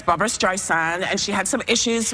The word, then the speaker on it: Streisand: music okay so it's Barbra Streisand and she had some issues with her iPhone because Siri that kept like pronouncing her name wrong calling her strife instead of striving and Apple said they're